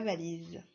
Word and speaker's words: valise: Et oui, on utilise le S qui est entre deux voyelles, le I et le E sont bien des voyelles, donc le S fait Z.